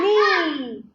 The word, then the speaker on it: knee: K-N. K or N is silent. K. K is silent. K is silent. knee.